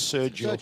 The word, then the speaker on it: Sergio: Sergio that's how you say it, by the way. It's Sergio. Sergio.